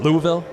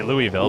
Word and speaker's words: Louisville: I don't want to say it right or wrong because it's, what is it, Louisville? I say Louisville, but it's Louisville, yeah.